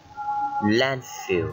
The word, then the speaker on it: landfill: The first one, landfill.